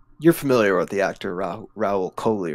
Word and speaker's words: Rahul Kohli: ezra bridger uh you're familiar with the actor raul coley right that's how you say his name yes rahul kohli i'm a very big fan of his from